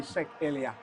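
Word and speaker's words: Meschack Elia: How you pronounce his name? Meshak Elia.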